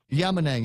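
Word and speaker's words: Yamanang: I'm Willie in Yemen a yama nang is his name okay that's how it's pronounced William Yama Nang there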